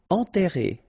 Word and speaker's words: enterré: Enterré. Okay, remember, and together, nasal, en, and then you get this double R here, and it will open the sound of the E, okay?